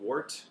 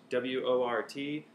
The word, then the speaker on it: wort: It's called wort, W-O-R-T, pronounced wort.